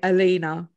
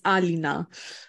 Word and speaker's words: Alina: And I shocked a couple of people because in England, people say Alina, like how you pronounce A. But in Poland, it's Alina.